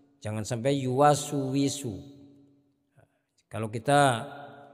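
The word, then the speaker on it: يُوَسْوِسُ: Jadi jangan sampai yuwaswi, tapi yuwaswisu, yuwaswisu. Jangan sampai yuwaswisu.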